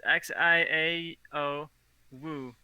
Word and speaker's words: Xiao Wu: and it was called Xia Wu, I believe is how you pronounce it. It's Xiao Wu.